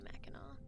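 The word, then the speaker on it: Mackinac: Um it's called Macak. Well, it's spelled Macak, but you say Meno.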